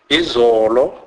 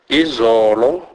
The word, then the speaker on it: izolo: Never as in hope, as often mistakenly pronounced by white. Examples: bona, bona, which means see. Izolo, izolo, which means yesterday.